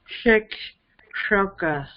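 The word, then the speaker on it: शिक्षक: No, this is not palate. This is cerebral, retroflex. That's the okay. Thank you. That one is the retroflex. Thank you. So it's shikshoka. Yeah, yes.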